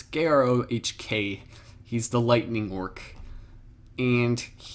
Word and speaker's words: Grohk: Now we go to Grok, or however you actually say his name. It's Grohk.